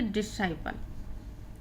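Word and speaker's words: disciple: पे लिख दिया है, इसको हम पढ़ेंगे डिसाइपल। ठीक है, तो आप यहाँ पे जो चाहें वो मान सकते हैं कि आपका एस साइलेंट है या सी साइलेंट है।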